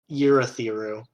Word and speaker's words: Urithiru: Is it pronounced Urithiru? Urithiru.